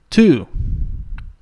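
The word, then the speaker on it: two: The silent letter here is the W. Okay, and the word is pronounced to. To.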